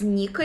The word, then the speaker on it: Nika: So somehow this blow actually awakened this Joy Boy spirit, so to say, in Luffy, and this green being pronounced as Nika in Japanese, if I understand the